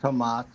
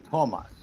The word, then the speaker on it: Tomas: this for future use the all estonian word pronounced on the first syllable so it's not thomas but it is thomas fair enough i stand